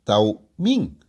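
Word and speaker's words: תמים: La palabra hebrea que Moisés usa aquí es tamiim, pronunciado taumin.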